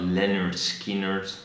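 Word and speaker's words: Lynyrd Skynyrd: Then we have 41 with Boston by Boston, 40 is Marky Moon by Television, 39 is pronounced Leonard Skinner, stupid ass title.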